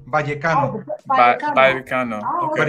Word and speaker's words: Vallecano: Rayo Vallecano. Rayo Vallecano. The V is almost a B. Vallecano.